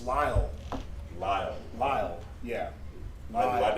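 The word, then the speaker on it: Lyell: and school the address out there is 1600 july rochester new york did i say it right what lyle it's lyle lyle lyle yeah i'm glad they spoke like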